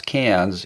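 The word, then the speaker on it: Cairns: up the coast to cans I know it's spelled KS but it's pronounce cans if you're over in Australia and then I flew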